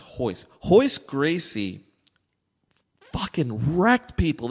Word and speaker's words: Royce: In Brazil, or in Portuguese, I don't know which of the two, but the R is silent. So it was spelled Royce, like Royce, whatever. No. But it was pronounced Royce.